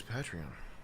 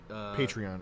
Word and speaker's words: Patreon: say it wrong because it's Patron. So, it should be Patreon.